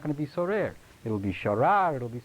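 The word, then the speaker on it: סורר: There is one other word that occurs in Tanakh, pronounced the same way, sorer, like this, but instead of sin reish reish, it's samech reish reish.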